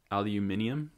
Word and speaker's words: aluminium: there's still things uh aluminum can you say it aluminium is how they say it here say it again aluminium i think you said it right they say every i